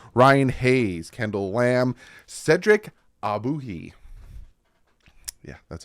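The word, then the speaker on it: Ogbuehi: Armstead Karen Christian Ryan Hayes Kendall lamb Cedric abuhi yeah that's how you pronounce his name Keon Smith James now tun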